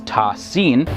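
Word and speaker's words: Ta Sin: term ta and sin which are written as single unit and pronounced together as tasin the first letter appears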